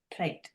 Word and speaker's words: Pleed: one of these being Pleed. That's spelled actually P-L-E-E-D, but I believe we pronounce it plate in English.